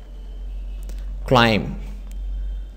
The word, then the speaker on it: climb: they say the Coulee climb the be even this silent be silent analyzer climb a brunette